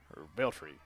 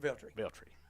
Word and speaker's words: Veltri: So Beltry. How do you say that, Jason? Veltri. Sorry, Beltry. So it is now 8-4.